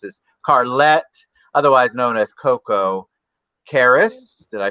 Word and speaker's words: Koko Karras: And obviously, I can tell this is Karlette, otherwise known as Koko Karras.